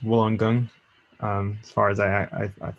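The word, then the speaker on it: Wollongong: uh does sound familiar for sure um eric wolongong that's how i say it but it's actually pronounced woolen gung um as far as i i as far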